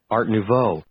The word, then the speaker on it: Art Nouveau: how to pronounce it so here's how to pronounce it Art Nouveau Wow fascinating I didn't just listen to that